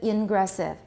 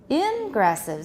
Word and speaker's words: ingressive: Which part do we stress? For example, egressive, ingressive. For these two, what are we going to stress? Normally it's egressive, ingressive. However, when we contrast them, what do we do? Egressive and ingressive. We move the stress so the listener can hear which part is contrasting.